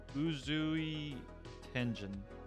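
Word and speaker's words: Uzui Tengen: It's pronounced Uzui Tenjin.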